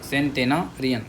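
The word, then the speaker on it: centenarian: सेंटेन टेना कर लो टेनरियन ठीक है सेंटेना सेंटेनारियन सेंटेनारियन बोलो सेंटेनारियन 100 साल से ज्यादा जी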